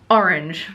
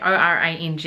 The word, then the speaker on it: Orange: of the E and it was meant to be pronounced orang or orang or something like that apparently may have been